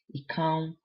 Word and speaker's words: ikan: differ a little bit, but in Edo we say ikan, and the an is a nasal sound that usually follows an R sound.